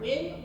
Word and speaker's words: Nguyen: It is not spelled the way it sounds. It is spelled Nguyen. So when you go to the ballot box, you can remember win with win or we be winning.